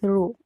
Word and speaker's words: rho: This way pronounce it like this, rho, okay?